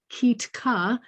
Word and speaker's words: Kitka: Our prelude this morning is Tiko nad Rikoyu, a Ukrainian folk song sung by Kitka, pronounced Kitka.